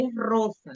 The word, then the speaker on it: rosa: Se ela for no princípio da palavra, ela tem esse som, R. Então, é rosa, não é rosa. É rosa em espanhol. Rosa.